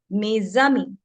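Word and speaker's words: mes amis: How we will use the liaison in it? We will say mezami. How we will use the liaison? We will speak whole word together. We will say mezami, right?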